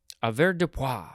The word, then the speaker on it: avoirdupois: It is the word avoirdupois or averdupoi. Averdupoi, yes. Or you could emphasize the A.